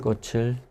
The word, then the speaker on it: 꽃을: 왜 꽃을 샀어요? 친구 생일이라서 샀어요. Okay. 왜 꽃을 샀어요? 친구 생일이라서 샀어요. Okay. So in this case, we have 왜 again. Why? 꽃을 or 꽃을 꽃을 샀어요.